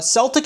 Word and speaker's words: Celtic: Uh Celtic is actually pronounced Celtic unless referring to the football club which is Celtic.